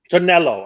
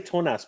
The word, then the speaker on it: Tonello: Tonello. I want to say Tonas, but Tonello.